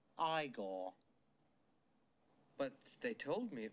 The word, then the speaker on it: Igor: it's Frederick Frankenstein I see you must be eigor now it's pronounced igore but they told me it was Eagle well